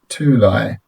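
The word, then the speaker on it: Tülay: Pronounced Tulay. This is why I get everyone to call me, because I can't stand it when it's too late. I just say lie. Lie, like lie.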